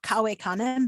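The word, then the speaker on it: cave canem: back sort of to the the list of pronunciation phrases i had before kawaii kane beware of dog that kawei that's an imperative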